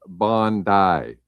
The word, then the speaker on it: Bondi: So the actual pronunciation cuz they corrected us is Bondi Baby and it's from Bondi Beach in Australia.